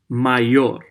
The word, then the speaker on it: mayor: my your main or I realized that my or is spell like mayor in English but it is pronounced my your okay my your means